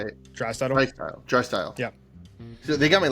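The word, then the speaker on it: Draisaitl: So I went McDavid, and I'm going to pronounce it wrong. How do you say it? Drystyle.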